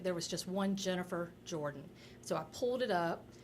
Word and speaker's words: Jordan: Like I said, Jennifer Jordan it's pronounced Jordan, but when you do the search, that's not what you do, is it's a generic name.